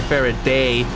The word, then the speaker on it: Faraday: their favorite day Jesus I've been pronouncing it as Faraday I like more how it sounds as Faraday as opposed to fairy day and I even looked it up and apparently it's a British it was a British person so yeah the pronunciation should be fair a day but I don't like